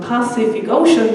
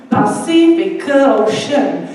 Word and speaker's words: Pacific Ocean: If you have in English Pacific Ocean, I love this one, Pacific Ocean, there you have three C's, and each is pronounced differently, right? Pacific Ocean.